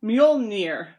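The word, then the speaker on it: Mjölnir: It's so hard to spell that in the document I even spelled it out phonetically. So it's Mjolnir.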